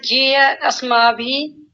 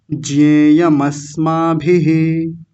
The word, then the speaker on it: ज्ञेयमस्माभिः: और ज्ञेय अस्माभि, आपने म छोड़ दिया था, ज्ञेयम अस्माभिः।